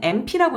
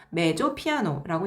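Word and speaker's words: mezzo piano: 메조 피아노, 이 M자는 MP라고 읽으면 안 돼요. 메조 피아노라고 읽는데요.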